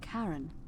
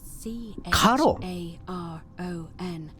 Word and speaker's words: Caron: it's just as you described it only your pronunciation is a little off the name you heard wasn't karen it was c a r o n as in caron when i dragged you out